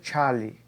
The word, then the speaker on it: Charles: em homenagem aos químicos franceses Jacques Alexandre César Charlie e Louis-Joseph Gay-Lussac. É assim que é a pronúncia desses nomes.